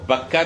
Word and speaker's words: بکہ: وہ یہ ہے کہ اس میں بکہ اور مکہ یہ در حقیقت ایک ہی لفظ کے دو تلفظ ہیں۔ اس کو بکہ بھی کہا جاتا ہے با کے ساتھ اور